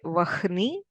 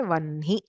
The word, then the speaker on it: vanhi: Similarly, if there is Ha and Na, like in Vanhi, We don't say vahni, we say vanhi.